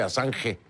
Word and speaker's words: Assange: Se escribe con doble S, Assange, fonéticamente, ¿no? ConcluAssange con doble S, pero es ConcluAssange.